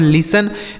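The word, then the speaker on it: listen: अब यहां टी है तो यह टी साइलेंट है। मतलब इसे नहीं पढ़ा जाएगा। इ एन से नो। इसे पढ़ेंगे लिसन।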